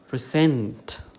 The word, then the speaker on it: present: Okay, the stress falls here, present in the second syllable.